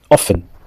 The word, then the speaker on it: often: Often. Quand on dit quelque chose souvent, on dit often, on dit pas often, on dit often.